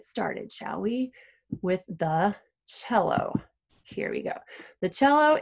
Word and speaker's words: cello: There's no H in it, but because it's an Italian word, you don't say cello, you say cello.